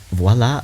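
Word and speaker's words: voilà: states miss we say voila voila is an instrument must know everything and don't know favorite type of person i've got time literally voila is how you say it what this seems like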